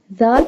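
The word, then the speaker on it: ذال: The next ayah, zalikal kitabu, zal pronounced very softly. Zal pronounced from the tip of the tongue touching the inner edges of the top 2 front teeth.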